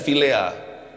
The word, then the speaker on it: philia: sempurna tapi kasih vilea bacanya vilea tapi ejaannya PH i l i a kasih Vilia ini adalah